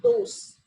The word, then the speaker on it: dos: Yeah, the alphabet D is pronounced as like the. Okay, the. Like the Hindi letter, that is the. So dos. The. Dos.